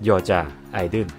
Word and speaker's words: 여자아이들: And there is a line or hypen separating the word "Dle" (deul), which is pronounced as [Korean: (여자)아이들 (Yeoja Aideul) ] or abbreviated as Idle or G-I-DLE means A group of girls with different personalities came together.